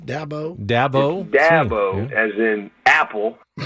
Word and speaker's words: Dabo: about right for you it's Dabo as in apple a Dabo I get all kind